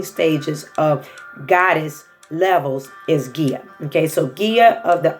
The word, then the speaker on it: Gaia: research give GA IA some people pronounce it a lot of different ways today I will be pronouncing the way that I know is gear which I've known her for years you need to research